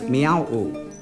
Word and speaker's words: Mrauk-U: Mrauk-U Mrauk-U is located on the left bank of the Ongdat Shuang River, which is also known as Miao-U, which is the Arakanese pronunciation.